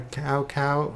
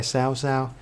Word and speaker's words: Cao Cao: main three kingdoms way led by Cao Cao oh wait that's not how you say it led by sow sow but yeah early dynasty